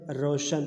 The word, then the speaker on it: روشن: پہلا لفظ ہے روشن۔ را پہ جو ہے زبر ہے، شین پہ بھی زبر ہے، روشن پڑھیں گے، ٹھیک ہے، روشن۔ اس